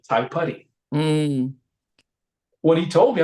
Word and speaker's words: Taipari: Whereas like my ex-wife had a son, has a son named Tai Putty, right? Because Tai Putty's father is Maori, right? So Tai Putty is spelled Taipari. mm.